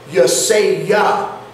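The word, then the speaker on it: ישעיה: that Hebrew number, and it first says Yesayah, and then it says or Yesayahu. Right, so the Yahoo stuff is a secondary pronunciation, and what I propose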